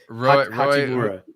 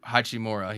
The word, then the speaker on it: Hachimura: But that's not his name. It's Hachimura. Hachimura.